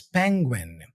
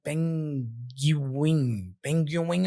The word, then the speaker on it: penguin: so here's the difficulty the combination Gwen can be a challenge for non-native speakers the G is pronounced but the UI forms a unique sound is this gu gu almost like a w sound and it results in a mispronunciation like Ping pengu or something like that but what you want to say here is penguin penguin all right so